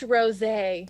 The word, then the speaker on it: rosé: It's pronounced rosé.